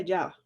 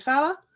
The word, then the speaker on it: Java: escribe j v está y se pronuncia ya también le pueden decir java pero pues es más común escucharlo con el nombre ya sí es un luego